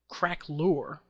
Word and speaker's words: craquelure: to pronounce it's the craquelure filter filter texture craquelure is how it's pronounced and my settings here are almost right